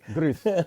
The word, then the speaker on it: gris: How you say gray in Spanish? Everywhere, Great Rizzy. Okay. Grizzy? Gris. Gris? Gris Rizzy, man.